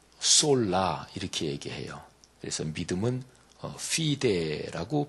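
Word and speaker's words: fide: 그래서 믿음은 피데라고 발음하는데 솔라 피데.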